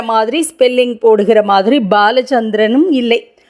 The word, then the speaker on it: பாலசந்திரன்: மாதிரி ஸ்பெல்லிங் போடுகிற மாதிரி பாலசந்திரனும் இல்லை பாலசந்திரன் அதாவது பாவையே அழுத்தி சமஸ்கிருதத்தில் இரண்டாவது பாவாக முதல் எழுத்தைச் சொல்ல வேண்டும் அதுதான் சரியான பெயர் பாலம் என்றால்